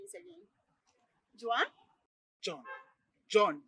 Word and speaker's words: Jawn: Jawn? Jawn. Jawn. J-A-W-N. How do you pronounce D-A-W-N?